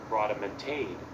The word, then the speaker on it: rodomontade: Rodomontade. Rodomontade is actually how you say it. Rodomontade. So I was saying it wrong.